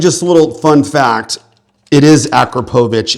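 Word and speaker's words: Akrapovič: And just a little fun fact, it is Akrapovic, it's not Akrapovic. But yeah, anyways, a lot of people pronounce it Akrapovic, it's Akrapovic, and it's a gentleman's last name.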